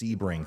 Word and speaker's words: Sebring: to ramp up there in Port Charlotte it's pronounced Sebring thank you guys thank you for helping me